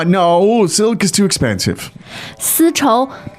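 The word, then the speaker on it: 丝绸: And you'll hear people at the market telling you that this is a 丝绸. 丝绸, And 对。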